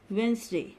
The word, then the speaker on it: Wednesday: Wedge, Wednesday, D silent.